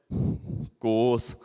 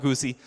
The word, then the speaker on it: GOOS: Who knows the official pronunciation of Go OS? Goose. What is the plural of goose? Geese. Sorry, it's not goosey.